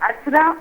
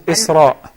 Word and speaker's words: Isra: Is it Asra or Isra? It is Isra. And can we keep the name of our daughter, Asra? It is Isra. Isra, okay. Yes, with a zayr on the first alif.